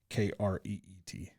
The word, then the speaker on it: Crete: Krete is how it's pronounced. It's spelled Crete, but it's pronounced Kreet.